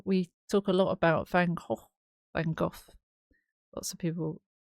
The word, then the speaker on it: Van Gogh: Oh, we talk a lot about Van Gogh. Van Gogh. Lots of people talk about the pronunciation of his name. Um, the official, is it Dutch pronunciation is Van Gogh.